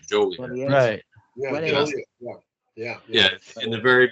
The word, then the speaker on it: Joliet: e t yeah yeah J not like Romeo and Juliet jolet yeah yeah in the